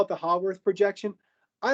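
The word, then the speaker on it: Haworth: the next one is a hogwarts projection sometimes pronounced a hayworth projection depending on who's saying the word i call it the hogworth projection i like how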